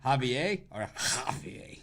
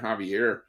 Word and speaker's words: Javier: do you think it's Javier you gotta roll you gotta roll the r at the end Javier isn't it like the Castilian Spanish where he gets a really like Hawk